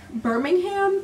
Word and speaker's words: Birmingham: what city is this oh firming Birmingham it's spelled like Birmingham um but yeah so